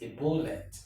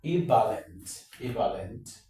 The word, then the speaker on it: ebullient: Now, there are about two different ways to pronounce this word. It can be ebullient, the V upside down, okay, ebullient, or you pronounce it as ebullient, the short O sound, ebullient, okay, ebullient.